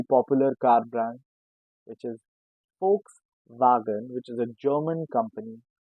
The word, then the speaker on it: Volkswagen: this name is V, but we say it Volkswagen. Very first thing, V sounds as a so Volks and Wagen because A sounds as double A.